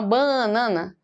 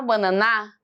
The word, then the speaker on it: banana: Eu vou pegar o ba mais forte, ó. Eu vou na feira e falo assim, ó. Banana, me dá uma banana.